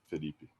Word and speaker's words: Felipe: it's not that easy Philipe is actually uh the way you know it's it's spelled and U maybe how it's supposed to be but just in Brazil I think maybe we say a little faster than normally yeah becomes a little like Philipi phip hey Philipi listen